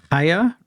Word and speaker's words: Chaya: slow ha was it haa raichik okay it looks like CH it's spelled c h a y it's the silence icking